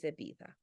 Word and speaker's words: Ibiza: You do not pronounce the Z. It is Ibiza, okay?